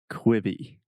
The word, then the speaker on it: Quibi: kwibi kwibi okay so this is difficult because in the first syllable we have the ear sound so imagine the difference between you know the classic examples of Beach and or sheet and so we have quit quit quitting okay so just say